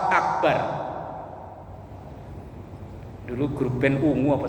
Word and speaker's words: akbar: Jangan memanjangkan huruf ba dalam lafaz akbar.